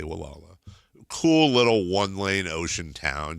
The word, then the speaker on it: Gualala: Spelled Gualala, but the locals say Wala.